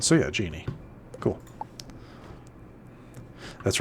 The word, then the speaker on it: genie: because yeah, with the with the extra I that does become genie. If it didn't have it, it would just be Jin. Yeah, the D is always silent. So, yeah, genie.